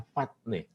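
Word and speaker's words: φάτνη: Kata asli dalam bahasa Yunani yang dipakai adalah patne. Ini cara bacanya.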